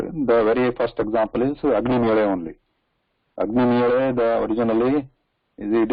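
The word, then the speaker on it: अग्निमीळे: So nobody pronounces it as Agnimile. Agnimire, that is right.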